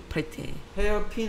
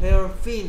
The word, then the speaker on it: hair pin: Hair pin 할 때도 hair fin 하면 머리 지느러미다야. 아 그래요?